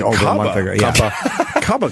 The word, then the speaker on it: Cuba: I can't believe we had Cuba Gooding Jr. and like that's over a month ago. Yeah. Cubba Gooding. That's actually the way his name is pronounced.